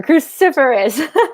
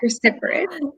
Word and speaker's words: cruciferous: Cruciferous. Cruciferous.